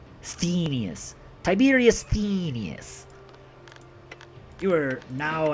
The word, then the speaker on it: Sthenius: Sthenius. Sthenius.